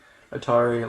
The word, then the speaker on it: Atari: And I like how, also in his picture, Atari, it shows how to pronounce his last name, like Atari, like the gaming, company and stuff.